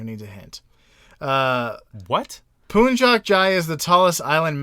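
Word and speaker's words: Puncak: it's a mountain okay and it's called It's pronounced apparently punjac but it's p u n c a k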